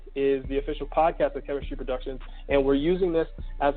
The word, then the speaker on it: K3MISTRY Productions: Chemistry Productions is spelled K3MISTRY Productions. Okay? It's not chemistry like the lab set. It's K3MISTRY Productions.